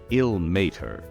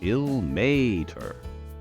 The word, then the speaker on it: Ilmater: Illmater. 3 syllables. Illmater. So if we were slowing down and exaggerating it, it's Illmater. Now, that deity, here's a lot of pronunciations. Illmater. Lots of people say Illmater. And that's actually pretty close. But he would prefer it if you stood on the may a little bit more, so Illmater.